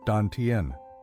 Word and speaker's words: dantian: Often called the dantian, pronounced danten.